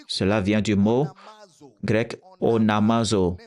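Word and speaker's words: onomazo: Quiconque prononce le nom du Seigneur, cela vient du mot grec onamazo, onamazo, O-N-A-M-A-Z-O, onamazo, ce qui veut dire faire une revendication.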